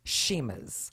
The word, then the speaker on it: Chima: Although it has CH, it's pronounced Shima's.